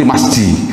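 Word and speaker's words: مسجد: Mim sin jim dal. Oh, enggak ada orang baca misi jim, enggak ada, Pak. Mesti ada enggak orang baca misi jim, ada enggak? Enggak ada ya. Bacanya mesti masjid.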